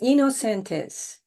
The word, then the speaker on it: Inocentes: the kind introduction jamaa the pronunciation of my family name is you are right innocentis but I am the